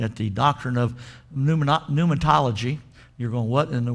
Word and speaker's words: pneumatology: the doctrine of pneumonia pneumatology you're going what in the world is pneumatology well it's new starting but it's spelt with a p then it goes into you pneumatology say that with me